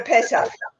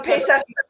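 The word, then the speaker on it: פסח: Pesach? Yes. For Pesach. For Pesach is Yiddish for or Hebrew for Passover.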